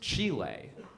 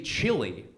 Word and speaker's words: Chile: country in South America which I know that's pronounced Chile but it's kind of in the middle right but I can't say chili because they'll sound like